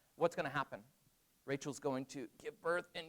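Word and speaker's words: רחל: Rachel, right?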